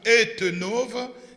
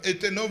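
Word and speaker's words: Uyttenhove: pour contenir ses enfants, situé sur la rue Etenove, numéro 49. Etenove s'écrit U-Y-T-T-E-N-H-O-V-E, U-Y-T-T-E-N-H-O-V, Etenove 49, à 1090 ou 1090 dans la commune de Gênes à Bruxelles.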